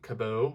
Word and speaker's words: Cabot: I'm not even sure that I said his last name right, but I believe Cabot is how you say it.